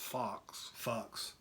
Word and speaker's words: Focks: It's pronounced Fox, right?